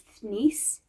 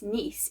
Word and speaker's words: Thnis: Nis textually, even though she also mentions that to them their name is Thnis. The point is, because it was difficult to pronounce by the people in the city, by the people in power, they were known by the powerful people as Nis instead, as a shortening and easing.